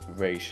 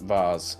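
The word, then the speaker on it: Ra's: And then she immediately comes back because very thoroughary although uh his name was his name is pronounced re not vase.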